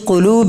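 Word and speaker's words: قلب: you'll की डालना फी कुलूब लजीना कल्ब का माना होता है दिल बड़ी काफ से कल्ब दिल छोटी काप से कल्प मतलब कुत्ता तो जो लोग सही से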